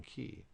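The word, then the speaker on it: che: the K is in key so the word CH I is key because if you remember up here the I always sounds like e so CH I be key CH e would be K so CI is Chi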